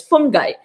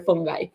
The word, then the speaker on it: fungi: a fungi okay here i pronounce it as um when i'm teaching my students i pronounce this as fungi they have combined chitins